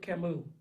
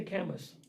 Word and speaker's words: Camus: my favorite philosophers albert camus man that's another thing camus his name is spelled c-a-m-u-s and academics will no they'll clown you if you say canvas it's camu all right sorry i'm about